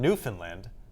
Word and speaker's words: Newfoundland: And It says a local legend in Newfoundland, it's actually Newfoundland I should be saying it correctly, claims the Mayflower stopped